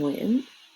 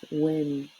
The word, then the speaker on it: Nguyen: And Nguyen, a lot of Americans tend to pronounce it as Win, because that's the closest sound that they can think of to help pronounce it.